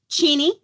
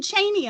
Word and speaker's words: Cheney: maiden name is um cheny c h Ney and uh when we previously had a vice president who had the same spelling of the name but pronounced it differently you'd be shocked at